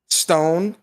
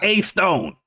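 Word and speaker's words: A.Stone: Gaming, Stranded Ninja Gaming, Stone, Juan Sosa Gaming. You ain't say her name right. It's A Stone. A dot Stone.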